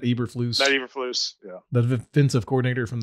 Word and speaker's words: Eberflus: list um coming in is that pronounced eberflus yes matt ebert flew us yeah the defensive coordinator